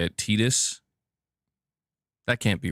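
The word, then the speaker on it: Tidus: username and I've been I've still been saying Titus this whole time. You're telling me it's Tetus? That's how you say it.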